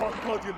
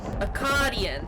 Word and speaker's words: Akkadian: What have you, Arcadian, done to unleash such force? Akkadian, that's how you say it, okay.